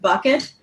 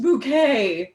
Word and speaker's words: Bucket: "Package for a Hyacinth bucket," said the postman, reading his clipboard as Hyacinth opened the door. "It's pronounced bouquet," sang Hyacinth.